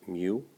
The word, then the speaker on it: mu: 72 up to 107 that U is actually pronounced mu okay Nancy words you really don't need to